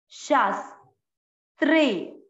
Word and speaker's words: शास्त्रे: इस शब्द को हमको बहुत अच्छे से उच्चारण करना, पहले शा है और फिर आधा स, शास, शास्त्रे, शास्त्रे।